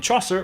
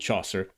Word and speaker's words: Chaucer: Geoffrey comes from Geoffrey Chaucer, and Chaucer rhymes with saucer.